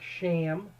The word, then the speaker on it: Shem: children we're talking about shem which is actually pronounced more like sham or shame shame is actually the best